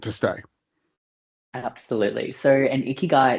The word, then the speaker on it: ikigai: How do you pronounce it? Ikigai, yes. Ikigai, so reason for being.